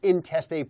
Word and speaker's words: intestate: So, how do you say it? Intestate? Intestate, yeah. You don't say interstate. No, that's not, because it sounds like you're on the interstate. So we don't do it that way.